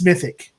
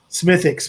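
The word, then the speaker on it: Smithwick's: he says it's called, you take the W out, so it's Smithick. Smithix, but I guess the W is silent the way they say it.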